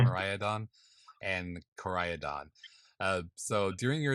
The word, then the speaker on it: Miraidon: How do you say this damn thing? Miraidon, Miraidon, yeah. Miraidon, and Koraidon.